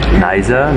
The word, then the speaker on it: Knysna: We're leaving Groot, Brakrivier, and we are on the way to Knysna, another little beach town. Knysna, no K sound. And you pronounce the Y as well.